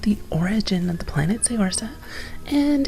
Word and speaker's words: Saorsa: origin of the planet Saorsa, and it's sister world Seireadan. Technically those should be pronounced Say-or-Shah and Sher-ri-dan, if we go by the original gaelic terms, Scottish and Irish respectively, but the issue is